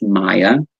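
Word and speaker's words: Maia: May is also named after the goddess Maya, which is spelled M-A-I-A, and also we go into the Pleiadian lineup, which is May 15th through the 22nd.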